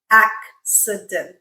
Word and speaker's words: accident: with this word so where do we break up our syllables in a word like accident that's how we would break it up right accident so this act the c as a is at the end of a syllable and therefore it makes the sound and then we use the same rules C followed by an i makes the sound so we get accident okay and it sounds